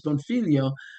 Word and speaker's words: Bonfiglio: Uh and if you want to see worse name, my family name is Bonfilio, but it's spelled like it's Bonfiglio and that's a really hard one.